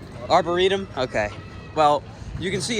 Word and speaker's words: Arboretum: I hope I said it right is it arborium or arborium what is it I still can't freaking say it right Arboretum okay well you can see it's filled in